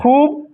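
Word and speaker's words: خوب: वाव से पहले जो ख है इसमें उसमें पेश छुपा हुआ है। इसीलिए इस वाव को थोड़ा खींच कर पढ़ते हैं। खूब। ऐसे ही ये वाव से जो पहले जो दाल है उस पर पेश छुपा हुआ है। इसलिए खींच के पढ़ते हैं दूर।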